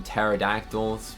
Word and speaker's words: pterodactyl: We got some pterodactyls with a absolutely crazy way to spell it. That's how you spell pterodactyl. The P is silent.